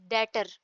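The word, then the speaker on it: debtor: हैं, is known as डेटर, ठीक है? इसमें बी साइलेंट होगा, डेटर पढ़ेंगे इसको।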